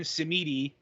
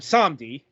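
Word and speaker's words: Samedi: simmidi in this game they actually get to his pronunciation right it's baron samdi you know like for your james bond film this will also be known to you if you you know uh speak french at all right um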